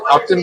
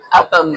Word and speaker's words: Upham Beach: Upton Beach? Is it Upton? No. No? No. No, Upton's farther up. Upham.